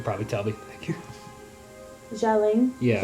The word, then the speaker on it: Xialing: I'm gonna probably pronounce her name wrong. Yeah, you can probably tell me. Thank you. Xialing. Yeah. Xialing.